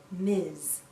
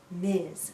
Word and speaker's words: Ms: we pronounce this as miz miz sounds like a z at the end miz a woman can choose